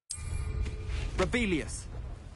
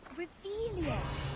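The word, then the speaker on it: Revelio: Rebellious. You're saying it wrong. Ugh, Revelia.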